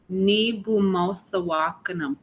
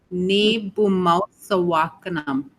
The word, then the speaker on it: Ni bumosawakanam: Ni bumosawakanam. Ni buwasam. Ni bumosawakanam. Ni bumosawakanam. Ni. There's an M at the end, like as in mom, M at the end.